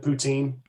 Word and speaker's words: poutine: And is it poutine?